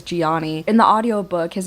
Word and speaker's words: Johnny: It's spelled Johnny, but they pronounce it as Gianni.